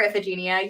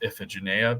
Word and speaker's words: Iphigenia: So I've always learned that it was pronounced Iphigenia, but I mean, it's ancient Greek. It's actual pronunciation. It's probably been lost to time, but whatever.